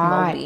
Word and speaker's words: Māori: It's Maori.